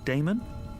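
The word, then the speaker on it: Daemon: How do you pronounce that? Damon, if you prefer.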